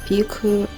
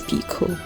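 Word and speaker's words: picot: so that's the first peup and now we're going to the next Stitch I'm sorry I'm not pronouncing my peup right I believe it's Pico so we going to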